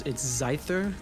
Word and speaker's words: Zyther: Apparently, it's Zyther, like Scyther with a Z, which would not have expected that.